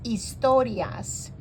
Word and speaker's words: historias: Biblia para ninos now in Spanish the H is not pronounced so it's istorias De La Biblia and